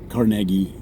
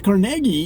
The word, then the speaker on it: Carnegie: I believe it's pronounced Carnegie as in Carnegie Mellon University so if I had